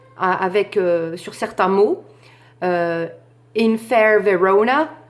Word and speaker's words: Verona: In fair Verona, Verona, c'est le O qui va prendre l'accent tonique et c'est comme ça qu'on va scander.